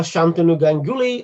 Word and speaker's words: Shantanu Ganguly: do you do oh my name is uh shantanu ganguly i currently work for cisco systems in uk